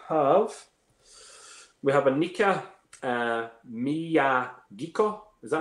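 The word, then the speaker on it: Miyagikyo: flexion okay we have we have a kneecap Mia geek oh is that how you say it yep yeah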